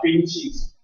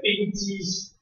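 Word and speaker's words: 冰碛石: 不会，所以没有沉积，叫冰气石。这个字念气，请你不要念成冰积石。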